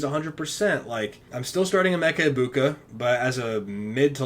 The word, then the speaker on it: Egbuka: Emeka Egbuka, still feel good enough to play him. Sorry for keep pronouncing the G. I just C-E-G-B and I go Egb.